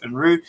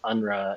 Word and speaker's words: Unruh: um uh you know unruly is the proper german pronunciation uh we say unru over here but i get unra and a whole bunch of other things so